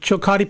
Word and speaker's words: Chillicothe: Now, Brian, you were, I believe, you played in the Frontier League with the Chillicothe Paints, correct? Did I pronounce that right?